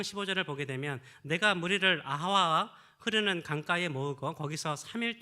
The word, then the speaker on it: 아하와: 아하와, 하와가 아닙니다. 아하와, 그렇게 하시면 되겠어요. 하와인데 아하와.